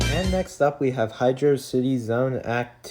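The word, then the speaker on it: Hydrocity: how to pronounce it I prefer Hydro City because that's how it should be pronounced I mean like hydrosity really why does that make sense um but yeah I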